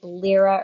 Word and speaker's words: Lyra: we have the liky Lira or Lyra I'm not sure which way to pronounce it say lira l-y-r-a yeah cause like lyrical yeah uh so we